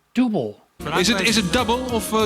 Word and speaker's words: Double: Here in the US most radio DJs would call this group Dooblay as if they were French And some would just say double but it's actually supposed to be pronounced dooble "Is it...